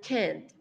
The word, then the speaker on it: can't: So, remember the pronunciation for can and can't. Can, positive, can't, which is a refusal in negative. Entonces, vamos a subir la entonación un poco al final de la palabra cuando utilizamos la forma negativa, can't, right?